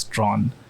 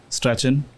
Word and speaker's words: Strachan: told way back when that it's Strawn, and I've always done that. But it's like a thing where everyone pronounces it as Strachan or Strachan until they're told that it's actually Strawn.